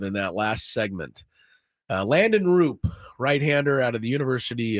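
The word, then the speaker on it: Roupp: That's actually Roop. R-O-O-P is the way they pronounce it on Baseball Reference. So been calling him Raup because it looks like that.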